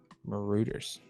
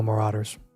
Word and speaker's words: Marauders: Is it that's how it's pronounced? That is Maruters. No, Marauders.